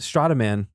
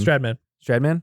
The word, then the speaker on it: Stradman: Strataman, I think is how you say his name. Stradman?